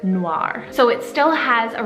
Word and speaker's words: noir: romantic sounds to it in france or any french-speaking country they'll pronounce it like noir with that kind of r rolling at the end super pretty but even